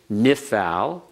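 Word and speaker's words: Niphal: But notice, if you know the name, nifal, just listen to the pronunciation. Nifal, nishmer, nifkad. They all follow the same pattern.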